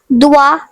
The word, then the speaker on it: doigt: The next French word is doigt, which means finger. The silent letters are G and T.